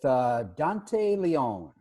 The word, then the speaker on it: Dante Leon: it both so dandy Verna here with Dante Leone I pronounced that correctly that's it that's the real